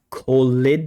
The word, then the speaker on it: called: Sometimes they are d, like called.